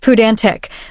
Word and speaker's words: pedantic: The advanced vocabulary term relevant here is pedantic, pronounced pudantic, which means excessively concerned with minor details and rules or displaying academic learning.